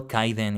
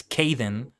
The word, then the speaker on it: Kaiden: without the H, because a lot of people pronounce my name as it's written in English as Kaiden, but mine in particular is supposed to be Kaiden.